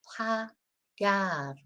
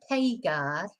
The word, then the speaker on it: pagar: So, because this is pagar, not paygar.